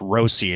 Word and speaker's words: Rossi: to is it it's Rosie right remember it's Rosie is the proper pronunci uh pronunciation but right we're talking about